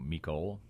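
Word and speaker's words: Mecole: heard it pronounced a thousand different ways so mikole okay the Georgia pronunciation guide yes because there's not a Chiefs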